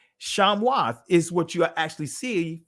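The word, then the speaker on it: שמות: Hebrew this is the actual word here right shamoth is what you actually see for the name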